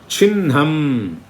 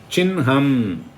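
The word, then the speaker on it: चिह्नम्: வன்ஹி, அப்புறம் சின்னம், சிஹ்னம் கிடையாது. சின்னம்னு மார்க் இல்லையா, சிஹ்னம் கிடையாது, சின்னம். ஆனால் எழுதும்போது முதல்ல தான் ஹக்காரம் போட்டுட்டு அப்புறம் தான் நக்காரம் போடுவோம். அப்புறம் பூர்வான்ஹ என்னெல்லாம் சொல்லுவோம்? பிரம்ம, வன்ஹி, சின்னம், பூர்வான்ஹ, இதை மாதிரி சொல்லணும்.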